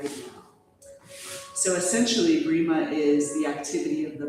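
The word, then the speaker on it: Breema: And I would love to weave in the practice of Brima to kind of merge with this QiGong inspired class. Brima, it's spelled B-R-E-E-M-A, and many of you have practiced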